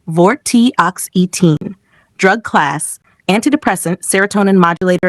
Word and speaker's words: Vortioxetine: Had vortioxitine complete drug monograph one basic information generic name vortioxitine pronunciation vortoxine drug class anti-depressant serotonin modulator and stimulator brand name trenelix United States Canada EU Brentellix, former brand name in some regions.